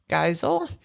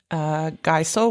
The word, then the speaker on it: Geisel: It's spelled Geisel, which it could be Giesel, which is like diesel. Although diesel has the I before E.